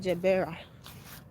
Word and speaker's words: Gerbera: Some people call it Gebera, but we call it Gebra.